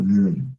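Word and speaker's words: Mund: Then we have der Mond, which is the moon. Der Mond. And the mouth is der Moon. So U and O. So now you get why I always say like O when it's U, pronounce the U.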